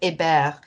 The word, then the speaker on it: Hébert: And my fiddler, Donna Hébert, who actually pronounces it Hébert, because it bothered her that her grandparents chose to forget French quickly in the family.